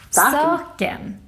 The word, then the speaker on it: saken: The acute accent is the normal one, and it means that when we say a word, we put the stress in the first syllable. It looks a bit like this. Upp och ner. Like in this word.